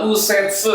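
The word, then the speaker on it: 右折: Ini tuh bacanya adalah usetse yaitu artinya adalah belok kanan.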